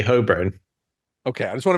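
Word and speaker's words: Holborn: made me say hurn because I say hurn that's how I pronounce it it's hurn h o l b o r n hurn and they were like that's not how it's pronounced and so I sort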